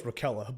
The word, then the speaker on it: Raquella: I know it's Raquella, but Yeah, we could just go over Kella.